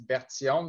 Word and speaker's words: Berthiaume: to have Officer Berthiaume. Did I say it right, sir? Yes, exactly. And in French, it's Berthiaume. There's a bit of an accent, but you said it well in English.